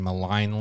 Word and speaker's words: Maligne: time you're any mean maligne lake that's right that's right malai Malloy but actually I met in Allegheny Gorge Milegi ones the correct pronunciation is malign yeah because I think